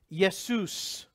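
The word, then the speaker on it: Ἰησοῦς: the name Jesus okay it would have been pronounced yes Seuss which is the Greek version of the word Yeshua which is the Aramaic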